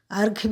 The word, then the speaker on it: अर्घ्य: अगला शब्द है अर्घ्य। अर्घ्य भी कहते हैं, अर्ध भी कहते हैं।